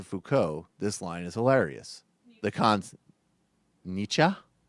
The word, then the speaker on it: Nietzsche: Nietzsche. Nietzsche. This line is hilarious. The concept of It rhymes with teacher.